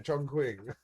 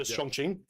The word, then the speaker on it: Chongqing: Chongqing. Yeah. It's like in in Mandarin cues are usually pronounced like that. Yeah. So Chongqing.